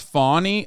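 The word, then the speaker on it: Fani: One is, it's pronounced Fawny.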